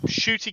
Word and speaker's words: Ncuti: look them up, Shooty Gatwa and Millie Gibson.